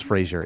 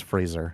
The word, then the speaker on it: Fraser: he was in Tarzan people mispronounce his last name as Frasier it's Fraser there's no I can